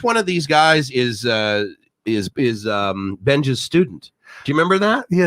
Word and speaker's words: เบนจา: Benjan.